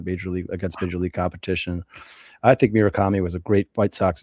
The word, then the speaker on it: Murakami: Yeah, Munetaka Murakami.